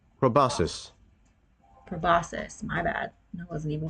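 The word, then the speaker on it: proboscis: about among the flowers, poking Oh, poking its probiscus. Sorry, I don't know how to pronounce that correctly into them.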